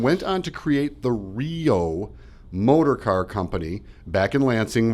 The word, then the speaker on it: REO: believe it or not the letters REO in connection with our brother's car company were pronounced Rio and did not get